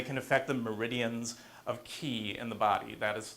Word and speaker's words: Qi: It can be spelled Qi, but it's still pronounced Qi. Some people say Qi, but it's actually Qi.